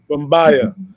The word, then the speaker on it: Bumbya: So quick question for Bumbaya. I pronounced it correctly, right? Yeah, you getting it. Yeah, I'll get it good. Bumbaya.